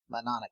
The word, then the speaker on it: Mnemonic: Sonic Boom. Mnemonic Boom. The M&N. Oh, what?